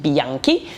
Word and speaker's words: Bianchi: love love my bike it is a vintage Bianchi which I am now pronouncing properly because I did not pronounce it